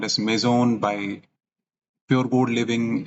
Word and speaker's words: Maison: of the project is maon m a i s o n it's a French word that means house so I would like to pronounce it in that way only all right so let's